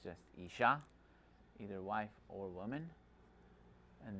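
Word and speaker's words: אישה: ish and isha.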